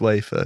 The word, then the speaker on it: wafer: cheese on slices of Waffa thin ham Waffa yes waffin WAFF thin ham WAFF thin wa about wa waffin ham waffin ham okay um wafer Jamie it's wafer you said it wrong oh right sorry